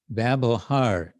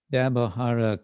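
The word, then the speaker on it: ব্যবহার: The one who, jar, hano, such, babohar is the behavior. Babohara can mean ordinary activity, or it can just mean in general behavior. In Bengali, I think it's pronounced babohar, isn't it? Yes, babohar.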